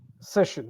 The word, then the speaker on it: session: session yeah session session session that's the right pronunciation so session the sh will come in the the second syllable say is one syllable the second syllable is shin right shin pollution erosion